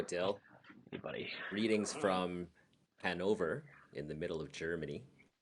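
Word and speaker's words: Hannover: See, in English they say Hanover, but then I've adopted the German saying it's Hanover. You hit the second syllable harder.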